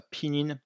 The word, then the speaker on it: pinyin: Donc pour pallier à ce problème, on utilise une transcription phonétique, le pinyin, qui signifie en chinois épelé, on prononce ça pinyin.